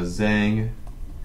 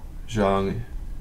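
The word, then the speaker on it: Zhang: for continuous intervals uh Zang and Xiao did some work they also did uh some work here Jang and Xiao say it properly this time and then they also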